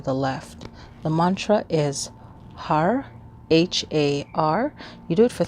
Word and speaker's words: Har: Okay, so you'll be saying Har, Har, Har, Har, Har. And it's pronounced H-U-D-U-H. So it sounds almost like a D.